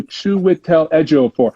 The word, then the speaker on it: Chiwetel Ejiofor: So if we're saying Chiwetel Ejiofor, okay, so Chiwetel Ejiofor.